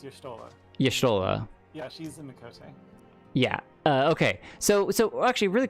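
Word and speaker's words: Miqo'te: Okay, so Mikoshte, is that how you say it? Mikote? Mikoshte? Mikote. Mikote. Okay, so Mikote are the cat people.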